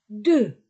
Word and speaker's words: deux: Prononcez deux, deux. Devant une voyelle Z.